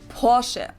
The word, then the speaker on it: Porsche: In German, we say Porsche. So there's like this short E sound in the end.